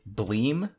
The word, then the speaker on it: Bleem!: video game emulators called bleem and connectix vgs and blink blim is spelled bl eem with an exclamation mark at the end always so legally when i